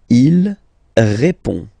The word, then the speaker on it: répond: Il répond. So, final D is not pronounced. You only have this on nasal sound at the end.